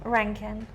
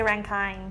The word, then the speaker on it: Rankine: are y Claire Ranken how do you say your last name Ranken they said it wrong the whole way through the fight but it's okay Terri they all say rankine yeah I mean that's